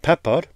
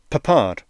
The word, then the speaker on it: Peppard: I used to pronounce it Peppard, but listening to Quentin Tarantino on podcasts, it's now Peppard, which sounds far better.